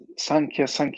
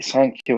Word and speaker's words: Sankhya: So unless there's some hidden meaning behind this, I'll just assume that it's supposed to be Sankhya with a long A in all cases.